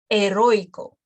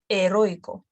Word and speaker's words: heroico: And they go also, the strong letter can go before the weak letter. For example, El Cairo. El Cairo. Two letters, one syllable. El Cairo. Heroico. Heroico. Beirut. So it's pronounced quicker, and it's not the full length.